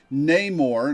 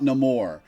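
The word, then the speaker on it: Namor: And unlike how some people have been pronouncing it and how some characters in this game pronounce it, it's Neymar, not Neore.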